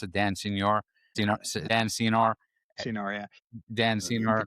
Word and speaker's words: Senor: We listen to the All In podcast with, how do you pronounce it? Dan Senor? Dan Senor? Senor, yeah.